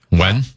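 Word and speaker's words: Nguyen: NG Ngen is how it's spelled, but I don't think it's pronounced that way. When um N G.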